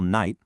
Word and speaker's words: knight: So when you need to spell knight, picture that silent K as part of his armor or his shield.